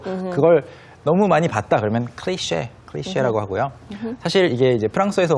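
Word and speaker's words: cliché: 클리체라고 뭐 클리치라고 읽으면 안 되고요. 클리셰.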